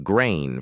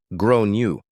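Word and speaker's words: Gráinne: She asked what I meant and I said, "Well, in Ireland, they typically pronounce it like grown you."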